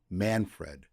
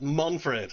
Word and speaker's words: Manfred: It should be Manfred. Not Monfred, no.